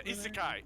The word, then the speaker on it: isekai: Is that what Ken's yeah, isekai. Isekai, yes. Okay. That's how you pronounce it.